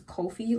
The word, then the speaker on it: Kofi: Later on in the book where I was at, you like his real name was Kofi. Like Ko Fi and like they call him coffee like the drink.